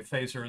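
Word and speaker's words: Feser: Fazer for recommending it. And in general, by the way, Fazer is spelled F-E-S-E-R, and I'd recommend him to you.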